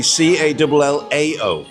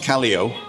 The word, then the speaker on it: Callao: No, if you say Kai, Kai. yeah, like the name, yeah, and then ow like cow.